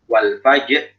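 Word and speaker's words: الفجر: Contohnya misalnya wal fajr, ya. Kita mesti langsung masuk ya, fa ya, berharokat fathah itu mesti langsung masuk ke jinnya. Wal fajr, fajr, bukan wal fajr, wal fajr, wal fajr. Itu namanya kemanjangan harokat ya, tidak harus dipanjangkan.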